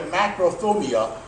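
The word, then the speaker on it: μακροθυμία: So this word here, macrothumia, is pronounced macros.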